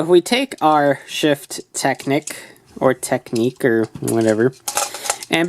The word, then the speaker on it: Technic: shift Technic or shift technique uh the pronunciation is actually technique but the spelling is Technic so what however you